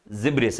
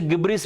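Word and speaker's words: gibberish: तो वर्ड कौन सा है आपका यहाँ पर, जिब्रिस है। आप उसे गिब्रिस भी पढ़ सकते हो, गिब्रिस पढ़ो, यदि आपको गिब्रिस से याद रहता है तो वैसे पढ़िए, ठीक है ना।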